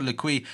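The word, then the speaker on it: L'Équipe: This is according to L'Equipe. I think I said it wrong. I think apparently it's like L'Equipe.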